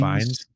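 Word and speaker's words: Fiennes: He says, "Not a fan on how Ralph uh I'm always bad on pronouncing his last name." I think it's Fines.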